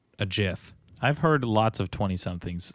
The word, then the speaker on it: GIF: Okay, so honest to goodness, do you guys pronounce it GIF or Jiff? I pronounce it like it's supposed to be pronounced. GIF. Which is GIF. Because it has a G, not a J.